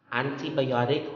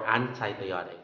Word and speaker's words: antibiotic: Next is antibiotic or antibiotic. So you can say anti or anti.